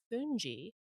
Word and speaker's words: fungi: apart though is the funji um you know Fuji it's spelled like fungi but it's actually their version of polenta and